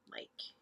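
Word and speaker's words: Myk: I think I keep saying the name wrong. Mike. M-Y-K, Mike. Mike the Myomancer.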